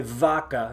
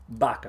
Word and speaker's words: vaca: Don't say vaca, viernes, or valor. It's vaca. So these are the ones you're going to have trouble with because you're going to want to pronounce them like a V in English. Don't do it.